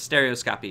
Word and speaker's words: stereoscopy: gonna talk about stereoscopy stereoscopy or scope ii but that's how its stereoscopy is how it's pronounced okay so 2d and